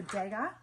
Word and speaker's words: Degas: I think the S is silent, so Degas.